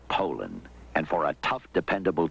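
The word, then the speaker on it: Poulan: for over 30 years they've been mispronouncing our name so we'd like to remind you that our name is poland and for a tough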